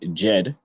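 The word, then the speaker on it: Djed: The root word seems to be Jed, D-J-E-D, and the source of this seems to mainly be the Jed pillar.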